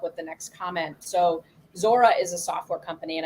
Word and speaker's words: Zuora: which will help with the next comment so zora is a software company and i know it's